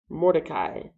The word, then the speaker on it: Mordecai: Mordecai.